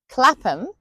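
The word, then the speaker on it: Clapham: Then we have the ones written like ham but sounds like um for example Beckenham Clappam Fulham Tottenham Cot Road.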